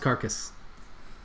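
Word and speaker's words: Cerch: gnomish girl fortunate named it's actually spelled CER CH is still pronounced carcass also new mascara and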